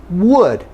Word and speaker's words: would: So get rid of the L in could, get rid of the L in should, and it's especially important in would.